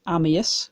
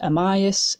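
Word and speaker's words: Amyas: And the way it was said then is Ammius, which is how I like it said. But I've also heard Ammius, Amius, a lot of different pronunciations.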